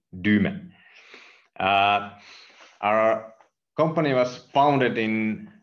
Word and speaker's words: Dyme: is called duma solutions we pronounce it like not dime or anything we just like to call it duma our company was founded